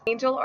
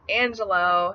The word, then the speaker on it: Angelo: My first Angel or Angel alternative is Angelo. Angelo is the Italian word for angel, and it can also be pronounced Angelo for the Spanish speakers.